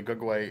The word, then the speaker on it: Gugwe: had never heard this but yeah apparently the G way is real although it's not spelled that way it's spelled gugwe and it's somewhat like a Bigfoot